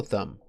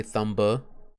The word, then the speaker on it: thumb: You don't say thumba. You don't pronounce the B, but it is part of the spelling, so it does need to go there.